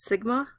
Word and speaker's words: sigma: on it this is a Greek symbol it's pronounced Sigma for the standard deviation of a population now